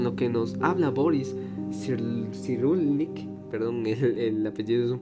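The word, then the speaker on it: Cyrulnik: Este concepto que nos enseña Perry de la resiliencia se concatena con lo que nos habla Boris Sirulnik, perdón, el apellido es un poco difícil de pronunciar. Sirulnic, el cual sostiene que la resiliencia es esa capacidad de superar los traumas reinterpretando la experiencia.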